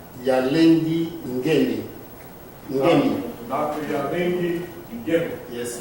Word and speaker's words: Ngemi: How do you pronounce your name? Yalengi Ngemi.